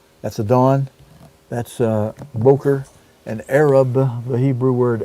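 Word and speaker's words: בֹּקֶר: render is it Boker actually it's Boker is the way you pronounce that b o g r is Boker properly Dawn is the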